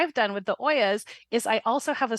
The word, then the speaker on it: olla: Thank you for clarifying Oya, because I always pronounced it Ula instead, like OLLA.